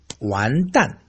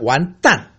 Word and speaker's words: 完蛋: Wonton is pronounced differently from 完蛋. 完蛋. How? Okay. All the curses I mentioned this time are all ending the fourth tone. Very sharp. 完蛋.